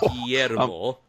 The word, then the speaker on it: Guillermo: How's his name pronounced again? Because again, I almost choked on water here. So Guillermo.